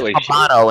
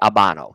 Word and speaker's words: Habano: Yeah, I had to correct Habano and say Habano.